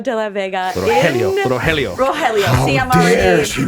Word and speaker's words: Rogelio: Jaime played the beloved character of Rogelio.